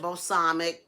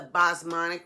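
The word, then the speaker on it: basmati: um the bosonic rice I pronounced it wrong I said balsamic that's the balsamic vinegar this is the B monic rice and the first time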